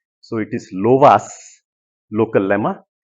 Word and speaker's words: Lovász: of uh ERS and loas just a meane so in Hungarian s is pronounced sh SZ is pronounced s so it is loas local Lemma erush and